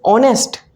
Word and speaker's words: honest: Here we pronounce is honest, not honest. And here we pronounce is lamb, not lamb. Here B is silent, here H is silent.